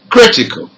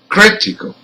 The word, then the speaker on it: critical: Now with rule number 4, also words ending in AL has the stressed syllable third from the end. So let's hear some of them. Number 1, critical.